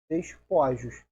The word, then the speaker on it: despojos: Despojo, a tônica está em O. Despor. Colocou o S, a única diferença vai ser o timbre do O que passa para O. Despojos. Continua sendo paroxítono. Continua sem ser a marcação do acento.